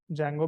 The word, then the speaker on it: Django: एक चीज और भाई बहुत सारे बच्चे इसको डी जंगो बोलते हैं डी जंगो नहीं है जंगो है ठीक है डी साइलेंट है इसमें डी जंगो मत बोलिएगा जैंगो बोलिएगा जंगो एडमिन लिख के एंटर